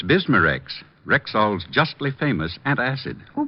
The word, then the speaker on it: Bismarex: Bismarex.